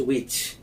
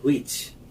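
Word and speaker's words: which: এটা হচ্ছে উইচ, কিন্তু আমরা বলি হুইচ। চিন্তার বিষয়, এভাবে প্রত্যেকটা ডাব্লিউএইচ ওয়ার্ডের মধ্যে এই এইচ সাউন্ড, অর্থাৎ এইচ লেটারটি বা এইচ সাউন্ডটি উচ্চারিত হবে না।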